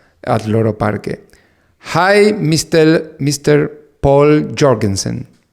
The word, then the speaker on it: Povl Joergensen: Povl Joergensen. How are you? Hello, Rafa. Okay, I said your name perfectly. The pronunciation is Povl Joergensen or Povl Joergensen. It's like you said first, Povl Joergensen. Paul Jorgensen.